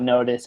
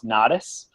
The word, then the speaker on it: Knotis: It's spelled an odd way, so it's Knotis. So a lot of people call us Knotis because the Knot just go, everyone thinks not.